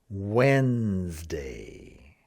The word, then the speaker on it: Wednesday: People will look at it and they'll want to try and say it the way it looks.